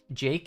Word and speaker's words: jq: Jason or apt get install Vim vim and Jake Jake is how you pronounce Jake q and JQ or Jake is a stupidly useful tool for